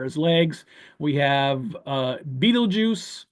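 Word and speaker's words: Betelgeuse: legs we have uh Beetle juu or Bal Gees as as it's technically pronounced and then we have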